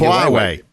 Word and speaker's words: Huawei: I mean, this is the crazy thing about how do you pronounce QA? I'm getting the name wrong. Huawei.